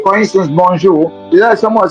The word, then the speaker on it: bonjour: So it's not bonjour, it's bonjour.